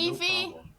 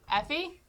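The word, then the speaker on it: Aoife: to your house hey evie effie is that your name a lot of people don't know how to pronounce it because it's spelled a-i-o-f-e and people have trouble where are you from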